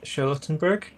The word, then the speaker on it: Charlottenburg: So she's going to take that back to her little apartment, which is in Charlottenburg. Did I pronounce that right?